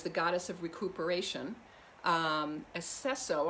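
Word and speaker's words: Aceso: goddess of recuperation um esseso i think is how you say it a-c-e-s-o the goddess of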